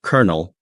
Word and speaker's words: colonel: Like colonel being pronounced colonel, that one always trips people up.